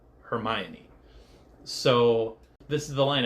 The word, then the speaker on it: Hermione: fabled line that told everybody how to actually pronounce her name her my oi hermion so this is the line everybody points to